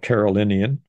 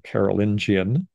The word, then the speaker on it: Carolingian: and this is uh what's called Carolinian or carolingian depending on how you pronounce it and it was one